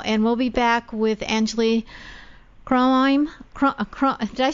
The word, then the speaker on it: Anjuli Kronheim: We're going to take a little break right now, and we'll be back with Anjuli Kronheim. Did I pronounce that right?